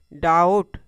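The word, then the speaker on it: doubt: यहां भी यह जो बी है टी से पहले आ रहा है। टी से पहले आ रहा है। तो बी क्या हो जाएगा? साइलेंट हो जाएगा। इसको हम क्या पढ़ेंगे? डाउट। इस वर्ड का उच्चारण क्या हो जाएगा? डाउट।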